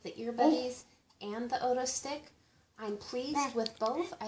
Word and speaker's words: Otostick: It's pronounced Otostick, not Otostick, so I did mispronounce it in the original video that I recorded.